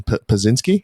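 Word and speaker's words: Podziemski: Their starting point, they consistently asked for Brandon Pazinski.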